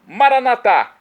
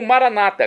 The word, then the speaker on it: Maranata: dizemos Nossa católicos ou Maranata com a tônica da penúltima sílaba como dizem nossos irmãos separados os evangélicos ou protestantes não importa pronúncia o significado é o mesmo vinde Senhor Jesus vem senhor